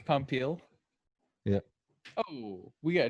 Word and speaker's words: Popeil: Popeil. Popeil. It's Pompil.